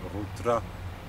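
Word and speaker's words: ghutra: It's rutra. It's two R's, but the first R is the French R. It's Arabic, can't help it.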